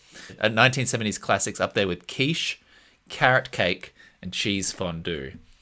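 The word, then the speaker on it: quiche: me at least Kish I don't think quish no you're saying it wrong yeah it's kich but that was definitely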